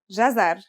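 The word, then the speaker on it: جزر: it out loud it should be easy it's pronounced jazzar and means carrot the gem is connected to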